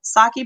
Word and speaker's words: sake: So the E is an A, like Spanish.